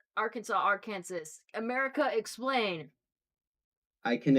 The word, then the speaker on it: Arkansas: Arkansas. How Not come that we big of a pronounce Kansas and we don't pronounce Arkansas, Arkansas?